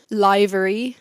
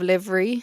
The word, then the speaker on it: livery: into Formula One I pronounced the grand Pricks for so long liary instead of Livery I pronounced like probably up until like three years ago I was pronouncing it liary Saar up until this